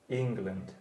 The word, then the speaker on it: England: England. So the E in England is how you pronounce it. You pronounce it like middle.